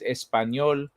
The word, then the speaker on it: español: If you want to know how to say the word español, it is español. The Enya sounds.